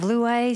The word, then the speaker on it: Louez: challenging i'd be hyphenated it'd be l-o-u-i-s instead of luay so i can see